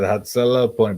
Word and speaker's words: Hazelelponi: Oh yeah, that's how you pronounce it, Hatsalelponi. But this Z, it would be more like Hats, like the TS sound rather than a Z.